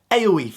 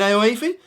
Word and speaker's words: Aoife: This name is pronounced Aoife. Hey, Evan, is that your wife? Oh, you mean Aoife? Yeah, Aoife wife. That's my Aoife wife.